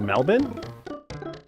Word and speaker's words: Melbourne: It's pronounced Melbourne.